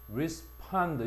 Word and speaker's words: respond: 따라서 reproduc션이라 해서 번식, 복사, 재생 요런 의미로도 7번을 사용할 수가 있고 그다음 8번에 보면 respond respond 역시 동사니까 강세가 뒤에 있겠지.